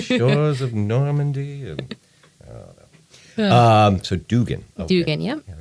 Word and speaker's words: Duggan: It's actually pronounced Duggan.